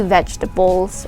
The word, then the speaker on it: vegetable: for eating so something healthy could be leafy vegetables or what whatnot so again it is pronounced as vegetable okay let's proceed to the